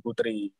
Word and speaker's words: poetri: Nah, itu tulisannya masih zaman dulu ya, masih ada ejaan O ya, kami poetra dan poetri. Dibacanya itu kami putra dan putri.